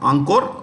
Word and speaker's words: Angkor: lot of this there's this huge Temple called Angkor Wat a n g k o r ankur what it's the world's largest Hindu temple complex